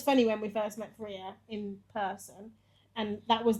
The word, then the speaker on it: Feria: Welcome to Feria. Hi, thank you very much. I mean, Feria is pronounced like Maria, but with an F.